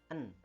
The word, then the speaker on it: an: ಇದು ಅನ್ ಅನ್ನೋದಿದೆಯಲ್ಲ, ಸರಿಯಾದ ಉಚ್ಚಾರಣೆ ಇದು. ಆನ್ ಅಂತ ಸಾಮಾನ್ಯವಾಗಿ ಬಳಸ್ತಾರೆ, ಅದು ತಪ್ಪದು. ಆನ್ ಅಂತ ಬಳಸಬಾರ್ದು.